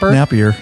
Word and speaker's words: Napier: Yeah, Napier, just like it's spelled.